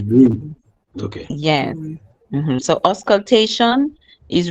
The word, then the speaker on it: bruit: For bruit, the T is silent. So imagine you're saying B-R-U-I, bruit. Okay? So it's bruit.